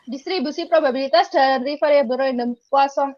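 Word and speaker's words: Poisson: mengikuti proses KUA song jadi bacanya bukan Poison ya karena ini orang Perancis jadi baja posong hukum jika memenuhi syarat-syarat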